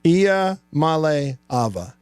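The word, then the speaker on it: Iamaleava: malava and uh the the correct way to pronounce my last name is malava IIA Mal Ava got it hat tip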